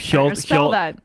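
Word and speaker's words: Hjalte: Scandinavian he's a Dane how do you say that it's it's h-j-a-l-t-e I believe Shield he he's kind of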